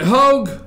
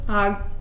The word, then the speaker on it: Hogg: Now show David, is it Hogue? How's he pronounce his name, Amanda? Hogg. Hogg? Mm. Oh, okay, yeah, David Hogg, okay, Hogg.